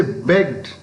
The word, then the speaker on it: begged: But if you say begged, B-E-G-G-E-D, they're also the same morpheme, same past morpheme, pronounced in a different way. It is pronounced d, not t, d, because the word ends in a voiced sound.